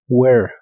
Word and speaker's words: where: No se pronuncia la H ni tampoco se pronuncia la E del final. Where.